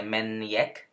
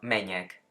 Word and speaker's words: menjek: No se dice menjek, sino meñek.